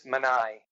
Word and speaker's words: Manny: Right after he calls Manny Trifari, is that how you pronounce his name? I believe it's Manai.